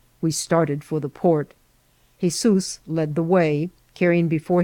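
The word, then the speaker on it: Jesús: that his name was jesus pronounced in spanish jesus h-e-z-o-o-s by which latter appellation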